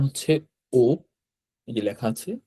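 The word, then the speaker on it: お: তারপর এটা উচ্চারণ হচ্ছে ও।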